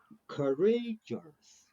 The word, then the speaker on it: courageous: Yeah, so the Courageous. emphasis is on the second syllable, courageous.